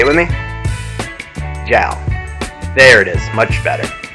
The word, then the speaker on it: JAL: It's pronounced JAL. JALFPV. Skittles, will you say it with me? JAL.